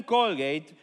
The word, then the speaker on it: Colgate: él fue William Colgate de hecho así se pronuncia su apellido en inglés William Colgate fue a la ciudad